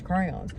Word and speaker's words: crayons: Once you start saying crayons, you will keep saying crayons, because that's how you're supposed to pronounce it, is crayons.